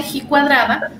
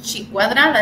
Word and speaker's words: ji cuadrada: que es la de he cuadrada o si la buscan en internet también la pueden encontrar como si cuadrada es decir depende de la pronunciación pero gijón si cuadrada es exactamente lo mismo ahora bien probar las